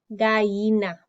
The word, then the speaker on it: gallina: Gallina. Gallina. So I'm going to tell you that it doesn't have a Y in it. So think about what two letters together make a Y sound.